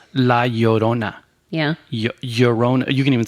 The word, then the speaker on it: La Llorona: Okay, so non-Spanish speaking people, the double L, it translates into a Y sound. So it's not La Llorona, which I've heard a lot of people pronounce. It's La Llorona.